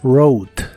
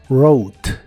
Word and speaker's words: wrote: en el pasado es rot otra vez la wu no se pronuncia y la o se pronuncia como ou la e del final no se pronuncia tampoco wrote wrote y se usa